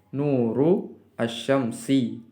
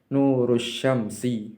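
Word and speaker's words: نور الشمس: Maka asyamsu ini bukan harokatnya adalah harokat asyamsu ini adalah kasroh. Nuru asyamsi, cahayanya matahari. Nurus syamsi, bacanya seperti itu.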